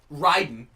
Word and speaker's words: Raiden: Okay, Raiden. Not Raiden. Raiden is the god of lightning. You're the protector of Earthrealm. Are they not? Isn't it spelled the same way?